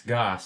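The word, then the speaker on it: Gass: It's not Gas, I bet, because I know a guy with his name spelled like that, and it's Goss.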